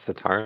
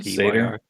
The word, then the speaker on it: satyr: Satar, am I saying it right? Satyr? Satyr.